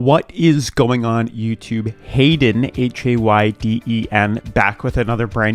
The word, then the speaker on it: Hayden: what is going on youtube hayden h-a-y-d-e-n back with another brand new crypto tv